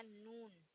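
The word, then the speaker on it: نون: फिर आएगा नून, फिर इसे प्रोनाउंस करते हैं हम ना से।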